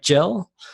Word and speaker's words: Gil: We use Gil over here too, but we pronounce it like Jill.